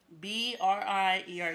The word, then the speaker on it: Briere: All right, it's hard to pronounce it. I don't know why people mess it up, but it's Brier. Like like how you spell beer, but Brier and Beer and Brier are spelled differently.